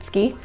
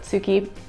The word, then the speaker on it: tsuki: case you weren't aware tsuki i think the japanese pronunciation is actually closer to ski but tsuki is more comfortable in